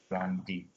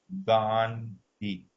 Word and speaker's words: Gandhi: N D H I Gandhi. Am I pronouncing it correct? Yeah, you got it. Gandhi.